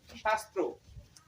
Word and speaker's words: শাস্ত্র: দেখো তা লিখবো স এর উচ্চারণ শশি শাল শাস্ত্র শাস্ত্র একটু উচ্চারণ করে দেখো দীর্ঘটা উল্টে যাচ্ছে কিন্তু শাস্ত্র